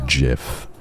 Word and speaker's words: GIF: it better like in gif it's to trigger low IQ people so that the the gigantic Giga brains like me get to flock on the earth pronouncing it properly as Jif thank you I love